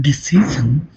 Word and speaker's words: decision: In the word decision, when the suffix -an added, the stress falls on ci in the decision.